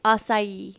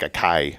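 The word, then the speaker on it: açaí: How do you say that? Asai. Oh, I used to say like a Kai.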